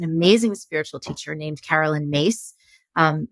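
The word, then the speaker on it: Myss: spiritual teacher named Carolyn mace um her last name is spelled m-y-s-s but it's pronounced Maze and she has her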